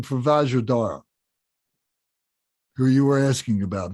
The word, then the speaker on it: Vajradhara: were asking about vajradhara if you look at that name it's vajra r d-h-a-r-a-a-a-r-a-r-a so most people do pronounce it but that d is part of the dara so um so dorje